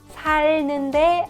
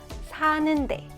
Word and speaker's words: 사는데: One irregular is if the verb stem ends with 리을 underneath because 르느 sound is difficult to pronounce back to back. You drop 리을. So 살다, 살는데 아니에요. 사는데.